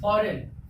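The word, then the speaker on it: foreign: ठीक, इसमें भी जी के बाद एन आया, तो जब जी के बाद एन आया तो जी क्या हो जाएगा, साइलेंट हो जाएगा।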